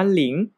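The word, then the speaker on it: 零: ที่ 10 นะ ครับ คำ นี้ อ่าน ว่า หลิง แปล ว่า 0 นะ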